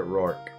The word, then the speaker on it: Roark: pants or roar or roar arc i always pronounced it rorke we're probably gonna buy some potions too